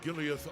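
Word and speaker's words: Giliath: I'm Gileath, representative of the Erebonian government. Gileath? Have I been saying his name wrong?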